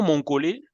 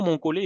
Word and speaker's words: Monkole: la qualité de soins le nom mongolais prononcé avec un accent final même si on ne met pas l'accent mais on le prononce avec un accent sur le E le nom mon collet est tiré d'un arbre